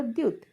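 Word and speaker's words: 티읕: আর এটা হলো খিউ, খিউকটা খ বা ক এর মতো উচ্চারণ হয়। এটা হলো দিউত, দিউতটা ঠ বা দি এর মতো উচ্চারণ হয়।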